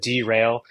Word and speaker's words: Drail: uh derail Diagnostics uh and that's how you pronounce it derail I hear a lot of people like derail